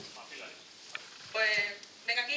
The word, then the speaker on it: Mapillary: Pau, Mapillary, ¿cómo se pronuncia? Mapillary.